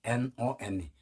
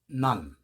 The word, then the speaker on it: none: N-O-N-E none 이건 오가 발음이에요.